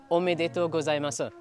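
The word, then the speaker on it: おめでとうございます: And to say congratulations in Japanese is, hopefully I'm saying it right, omedeto gozaimasu.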